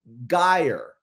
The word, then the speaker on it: gyre: What Lovelock later revealed was when Golding said Gaia, he thought he heard him say Gyre, which would be the British pronunciation of G-Y-R-E.